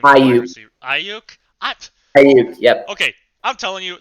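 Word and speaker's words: Aiyuk: Ayuk, yep. Okay, I'm telling you, some of these people's names I'm going to mispronounce.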